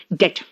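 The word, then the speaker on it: debt: क्या है पता है डेट बी यहां पे साइलेंट है क्या है डेट ठीक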